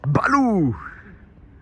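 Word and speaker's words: Balu: Bistro and Beer Bar, Balou! Ah, mais je viens de piger que Balou, en fait, ouais, c'est un U, mais ça se prononce OU, et du coup, ça fait Balou de Livre de la Jungle.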